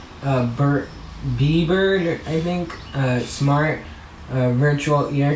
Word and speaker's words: Bieber: Bieber, yeah, I said it right.